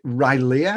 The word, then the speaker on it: Rilea: pronunciation of your company is it right leah how do you pronounce it exactly right yeah right all right good